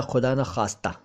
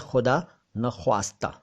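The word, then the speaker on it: ख़ुदा न ख़्वास्ता: हैं जबकि लगाने चाहिए, और जब लगा देंगे तो वो बनेगा खुदा न खास्ता, तो वो भी ठीक नहीं है। असल में ये शब्द है खुदा न ख्वास्ता। ख्वास्ता, ख्वास्ता शब्द का अर्थ है डिज़ायर्ड, विश्ड फॉर, ठीक है।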